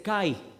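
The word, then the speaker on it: καί: se dice I en griego I se dice Kai Pablo está diciendo pero con respecto a la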